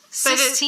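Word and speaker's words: Sixtine: So it's like the chapel, not the number. At first I was like, what's her name? 16? Sistine.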